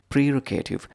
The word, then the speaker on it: prerogative: Prerogative. 3 syllables.